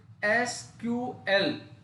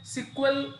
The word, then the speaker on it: SQL: तो देखिए, एसक्यूएल का जो उच्चारण है इसे SQL भी हम बोलेंगे, या बहुत लोग इसे सिक्वल भी बोलने का काम करते हैं।